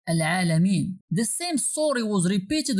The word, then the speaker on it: العالمين: So normally it should be pronounced as Al-Alamin, not Al-Alamin. But Al-Alamin has no meaning in Arabic.